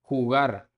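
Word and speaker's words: jugar: हुगार, हुगार to play, verb है to play.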